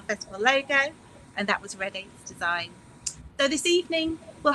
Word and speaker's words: Rediat: So my name is Rediat. It's pronounced as in the color red and number 8, so red 8.